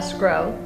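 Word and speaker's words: Sgro: Al Scro. Mm-hmm. And that's spelled S-G-R-O.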